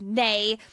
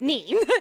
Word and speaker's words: Nee: I'm going to say mispronounce Nee as Nay.